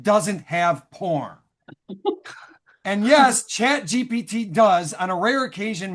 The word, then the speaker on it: ChatGPT: I must admit, I had been saying my new friend's name wrong. I was going with Chat GTP, like STP or OPP. Yeah, you know me. But Oh, yeah. Chat GPT stands for Chat Generated